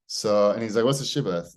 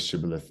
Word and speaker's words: shibboleth: Some groups pronounce it with a sh, but speakers of related dialects pronounce it with an S. Sibboleth.